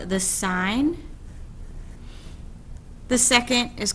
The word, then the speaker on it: sine: is just SI and i know it looks like sin but it's actually pronounced sign so the sine of